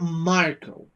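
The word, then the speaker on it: Marcoh: Marco. That is how they pronounce it. Of course, it's not written as I usually saw that name written.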